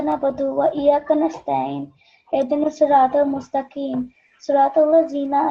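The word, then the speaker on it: نَسْتَعِينُ: No, it's wa iyyaka nasta'in. This is an ayn sound. You have to pronounce that as an ayn from your throat.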